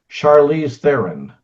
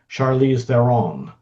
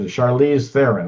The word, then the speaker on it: Charlize Theron: well, crap, I still don't know how to pronounce it. So I did learn yesterday that it's Charlize Theron. I always thought it was Charlize Theron.